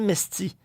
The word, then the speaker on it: Mesthi: Monsieur Mesty, bonjour. Est-ce que je prononce votre nom correctement? Oui, bonjour. Oui, c'est correct.